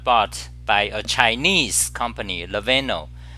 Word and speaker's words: Lenovo: They got bought by a Chinese company, Lenovo. How do you pronounce it? Lenovo.